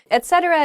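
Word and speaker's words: et cetera: a penguin suit etc not etc oh yeah okay I've heerd I hear this ech ech thing a lot etcetera is just used at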